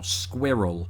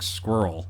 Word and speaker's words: squirrel: And then I realised how Americans say it, and it's more like squirrel. Squirrel. Which kind of sounds like you're pronouncing the word squirrel with a bunch of nuts in your mouth.